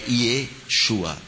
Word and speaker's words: Yeshua: é e assim não a pronúncia mais correta mesmo achada mesmo pesquisada eu tô desculpa eu sou uma autoridade nisto de anos de pesquisa muitos livros é achado arqueológico é Yeshua é esse é Yeshua O senhor falou a